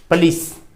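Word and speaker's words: police: English में इसका उच्चारण है पुलिस, स्ट्रेस है यहाँ पर, पुलिस पुलिस।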